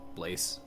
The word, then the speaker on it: blasé: Well, how would you pronounce the word blast? No, Blaze?